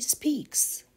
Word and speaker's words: speaks: Par exemple, he speaks. Là, ça se prononce le son S.